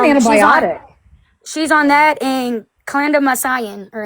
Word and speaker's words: clindamycin: She's on that and clindamycin, or how do you say it? Clindamycin.